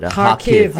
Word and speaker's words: Kharkiv: So that's how you pronounce it. Kharkiv, yeah.